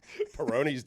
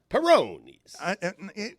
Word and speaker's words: Peyronie's: pronounced it like the Italian beer, I believe. Peyronie's.